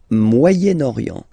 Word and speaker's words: Moyen-Orient: So it's interesting here because normally if you would have only this word here, you would pronounce it moyen, moyen, okay? But then as you've got this vowel after, okay, you get to make the liaison between the two.